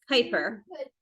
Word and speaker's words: Kuiper: It's Kuiper.